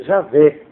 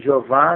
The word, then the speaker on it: Javé: Deus no antigo testamento a pronúncia correta Javé que assim cima de Jeová né alardeiam uma pronúncia distorcida de de Jeová O que significa.